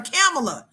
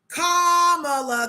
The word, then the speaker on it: Kamala: and they get they should have let people keep calling her camela because that sounds less like a communist than comma but you guys are all the ones that are on the you better pronounce her name right comma communist parents communist